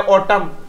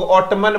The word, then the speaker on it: autumn: जैसे MN में देखो AUTUMN, कितना अच्छा वर्ड है, ऑटम। कुछ लोग ऑटमन बोल देते हैं, बिल्कुल गलत, ऑटमन नहीं होगा, SOLEMN।